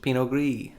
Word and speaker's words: pinot gris: gris pinot gris right pinot gris ps is silent it's real what'd you